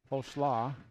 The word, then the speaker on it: Holschlag: Holschlag. Rhymes with coleslaw.